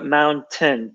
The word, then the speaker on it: mountain: They need to be closed. So mountain, turn, not tain.